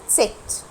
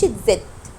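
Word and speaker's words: Zett: اخر حرف معانا تست. تست، وعايزاك تركز فيه وحط عليه دايره، اسمه تست مش تزد.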